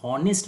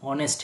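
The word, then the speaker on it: honest: नहीं नहीं, एलिट्रेशन यहाँ भी नहीं है, क्योंकि ये जो पहला एच है ये साइलेंट एच है, इसका उच्चारण हॉनेस्ट नहीं ऑनेस्ट है, तो यहाँ पे तो ह उच्चारण हो ही नहीं रहा।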